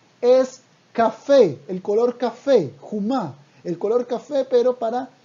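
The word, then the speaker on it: חום: que jomá, si decimos jumá, escuchen la diferencia. Jomá es muralla. Jomá, con O, con la vocal O. Ahora, jomá con la vocal U, o sea, jumá, perdón, y se escribe igual.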